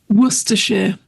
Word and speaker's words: Worcestershire: You're going to need 3 dashes of Worcestershire. Morag, how do you say this word? Worcestershire.